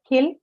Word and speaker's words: kill: see, ka is an aspirated stop Kill. and this is a monosyllabic word, right? Available on the, it's on the only available vowel sound, which is E. And ka appears to be in the beginning of the stressed syllable, right? And definitely it satisfies both the condition to be aspirated.